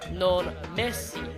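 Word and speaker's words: non mèsi: Creole it is pronounced non Messi where there is no R sound Europeans in Spanish were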